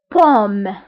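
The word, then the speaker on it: paume: فما يمكنش نقول AU مي كتنطق ب O. O. Exemple pomme.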